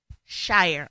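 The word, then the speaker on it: Shirer: it's actually by Priscilla Shyer and I think I'm pronouncing her last name right Sher ain't it okay sh okay Sher I apologize Priscilla Sher and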